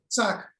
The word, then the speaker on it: Chak: Chak, they are pronounced in Kashmiri as Sak.